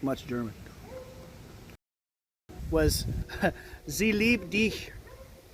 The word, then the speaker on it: dich: Was Sie liebt dich, but they pronounced dich like diek.